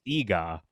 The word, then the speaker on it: Eegah: And I look at it, I'm like, "It's Eegah."